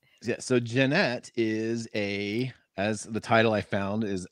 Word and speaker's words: Jannette: I'd like to welcome Janet Quackenbush to the channel thanks for joining us hey thanks for having me and I think I just said your name wrong it's Janette right that's fine yes okay just making sure